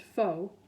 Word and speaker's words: faux: an old hearing aid the word faux is pronounced faux as in phony it's a French word snobby people use that